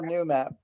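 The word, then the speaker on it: Noomap: there is no more new map but uh it would be new map n double o m ap based on the note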